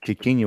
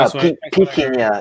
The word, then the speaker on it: Piquiña: Okay, I thought you said Kikinya with a K. No, Piquiña.